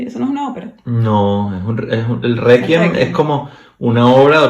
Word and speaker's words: Requiem: Entonces la misa de Mozart es el Requiem, ¿no? Okay. Que yo siempre le he dicho Requiem, pero en realidad es Requiem, porque la QU se pronuncia QU, no Ki, como en español.